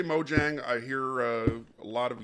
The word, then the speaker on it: Mojang: country or company as mojang or moyang they're in scandinavia mo yang would be uh they would pronounce the j in most germanic languages and for that matter most latin languages you know the stereotype